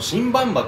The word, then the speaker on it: 新馬場: バンバっていうこれでバンバって読むんですよね確かね